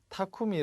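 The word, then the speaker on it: 巧み: 드는 방법이 토템 억 매우 타쿠미 라고 발음 해야겠죠 타쿠미는 능숙한 혹은 뭐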